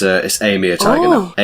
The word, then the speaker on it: Amur: It's Amur tiger Oh. now. AMUR.